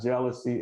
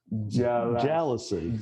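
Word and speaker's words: jalousie: in the front, and it is pronounced, it's not jealousy, it is jealousy.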